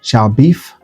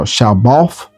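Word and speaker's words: Shalbaf: And the last name Shaolf. Shall beef. No, Shaolf.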